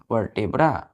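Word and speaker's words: vertebrae: are called क्या बोलेंगे वर्टेब्रा वर्ट ब्रे इसको हम पढ़ते हैं बच्चों प्रसन करते हैं वर्ट ब्रे वर्बे स्पेलिंग देखिए वी ई आर टी ई बी आर एई वर्टे ब्रे क्या बोलेंगे वर्टे ब्रे तो अब बैक बोन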